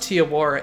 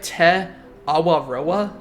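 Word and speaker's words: Te Awaroa: was pronouncing Tiora wrong it's not pronounced tiar it's like te AA te AA but for the sake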